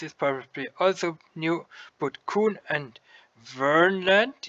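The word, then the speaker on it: Kverneland: K and S is probably also new, but Kuhn and Vernland, you don't pronounce the K here, that is an old brand name from Farming Simulator 15.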